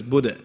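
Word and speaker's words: أَعْبُدُ: Stretch it out like this. Buddha and not budu. Right? Because dal, light letter.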